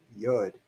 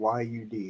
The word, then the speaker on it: yod: this symbol right here is called yod okay or you'd however you want to pronounce it yud it's a hebrew symbol